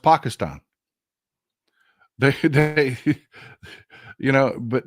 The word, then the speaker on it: Pakistan: They call it Pakistan. It's pronounced Pakistan.